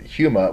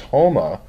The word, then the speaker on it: Houma: there was somebody from Houma I was pronouncing it wrong it wasn't humor was Houma and they got married